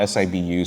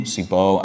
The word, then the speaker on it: Sibu: It's spelled S-I-B-U, so Sibu, Sibo. I've heard like two pronunciations for it.